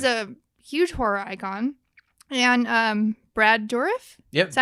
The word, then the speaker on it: Brad Dourif: And Brad Dourif, Yep.